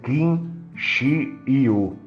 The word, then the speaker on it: kinguio: foi o King ou kinu pronuncia-se kin Xiu no final do século